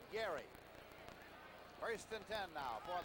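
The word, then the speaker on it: Gerry: down pushing people away he spells that first name by the way g-e-r-r-y and he pronounces it Gary first in 10 now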